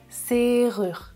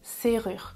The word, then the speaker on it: serrure: Attention à la prononciation avec le R. Serrure. Serrure.